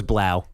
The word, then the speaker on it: Blough: I was like, man, it's spelled Blough, but I believe it's pronounced Blow. No, it's Blau. Are you David sure? Blau from Purdue? Yeah. I think it's Blau, Everyone called him Blau.